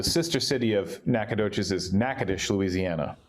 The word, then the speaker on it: Natchitoches: So I live in Nacogdoches, Texas, and so the sister city of Nacogdoches is Natchitoches, Louisiana. Spelled very differently, pronounced differently, but she teaches there, and so that's about an hour.